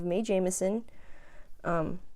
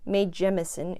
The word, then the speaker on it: Mae Jemison: build so we have may Jameson mae Jemison excuse me pronouncing it incorrectly here she is next